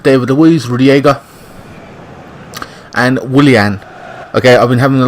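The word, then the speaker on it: Willian: Luiz Rudy ager and Willie Anne okay I've been having a lot of flack from people saying it's not William it's Willie Anne alright whatever it just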